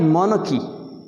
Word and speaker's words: MONARCHY: इसे लोग पढ़ते हैं मनारकी, गलत। ये है मोनकी, मोनकी। जैसे ये एनकी है, एनकी, ऐसे ये मोनकी है।